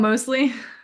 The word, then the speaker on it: Mosley: Mosley she's the grand I said it wrong Mosley yeah that's okay okay she's the granddaughter of